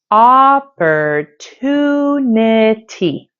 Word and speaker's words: opportunity: the first syllable but the primary stress is on the third syllable two because this syllable